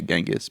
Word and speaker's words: Genghis: Jenis, but most like Americans will say Genghis, but I think it's Genjis.